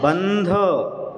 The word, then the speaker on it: बंध: बंद नहीं लिखा, बंध, दा नहीं लिखा, बंद। बंद दरवाजा बंद नहीं कर रहे हैं हम, बंध।